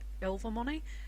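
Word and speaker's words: Ilvermorny: go on to the ill Vermont house which I had to remember from watching fantastic beasts that it's pronounced ill for money I wasn't really sure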